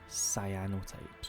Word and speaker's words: cyanotypes: They're not called cyanotypes, they're called cyanotypes. Sorry, let me just I'm so used to saying it with the wrong pronunciation that I've just fudged all that up, but they are cyanotypes, obviously cyan being the colour.